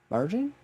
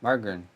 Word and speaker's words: margarine: it again Mar no there's an extra syllable in there it's it's an alternative to butter ah John say you got this job mar mar no you're close you're getting there mar mar mar you're close you're getting there green soft G margin not margin not